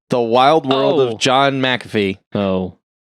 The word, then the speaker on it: McAfee: of mcafee antivirus yeah which i think shane is saying it right and everyone else has been saying it well not everyone that's how john says it yeah mcafee yes he says it like there's an extra because it's m c